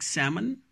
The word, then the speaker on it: salmon: together in a word, there we have to mute L. We don't have to pronounce L there. In most of the words, not always, like salmon, almond, bomb, palm.